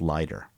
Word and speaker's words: Leider: I think it's pronounced Lighter. L E I D E R.